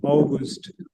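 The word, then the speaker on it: August: है यूली ऑगस्ट या और अगस्त को कहेंगे ओस्ट ओस्ट या ओगस्ट मिलते जुलते नाम थोड़ी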